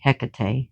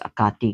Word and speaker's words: Hecate: So if you're in if you're already into goddesses like Ekati and I pronounce it the the Greek way, Hecate, which is Akati in Greek.